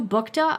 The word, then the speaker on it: Buchta: So, the CEO is Sue Bta. I did find a video of her and she did pronounce it that way.